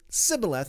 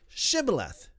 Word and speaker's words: Shibboleth: So Ephraimites would pronounce it Sibboleth instead of Shibboleth.